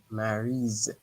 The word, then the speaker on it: Mary's: Mary's, Okay, remember an S between two vowels. A Y in French is a vowel. So an S between two vowels give you the sound Z.